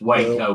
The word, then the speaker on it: Waco: It's Waco, man.